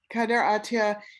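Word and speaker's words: Kader Attia: fascinating video art piece but is am i pronouncing this name right kaider atiya yeah kader atiya he's um he lives in france he's um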